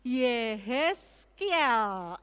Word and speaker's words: Yehezkiel: Bacanya siapa? Kemarin sudah disampaikan Yehezkiel.